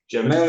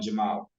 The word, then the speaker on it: Jamal: all for having me Jamil is actually my son I am Jamal Jamal sorry yeah thank